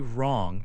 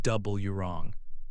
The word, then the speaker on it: wrong: When a word starts with w the w is silent. You only pronounce the r sound.